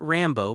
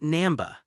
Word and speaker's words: Namba: My name is not Rambo, but Namba, the old man named Namba said angrily. It was obvious that the people below had called him by the wrong name more than once.